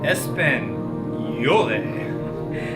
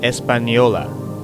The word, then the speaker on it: Española: How do you pronounce? Española. Española. Españole. Espanol. What is Espanol? Good. The correct pronunciation is Española.